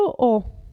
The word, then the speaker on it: ho: il verbo avere io ho vedete che la h non si pronuncia tu hai lui o